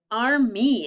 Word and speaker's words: army: And what does the Y sound like? It sounds like an E, a long E.